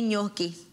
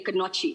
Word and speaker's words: gnocchi: just spout for me gnocchi you know how i used to get this one i used to pronounce it and say kanochi and that's how i got it and that's g-n-o-c-c-h-i absolutely